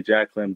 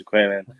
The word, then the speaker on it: JaQualon: So most of them will say JaQualon, but of course it's JaQualon.